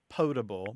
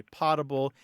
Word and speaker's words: potable: But again, the better pronunciation is potable, but many people do say potable, and unless they ask you to be corrected, I would just let it go.